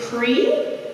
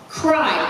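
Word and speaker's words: Kreie: So, please stand up and tell me, is it Cree? No. How to say it? Cry. Cry. K-R-E-I-E.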